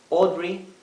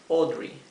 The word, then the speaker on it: Audrey: empiezan con a tenemos Audrey Audrey Audrey fíjense esto la a con la u tiene un sonido propio esta combinación de letras a y u se pronuncia o una o profunda o verdad audre audre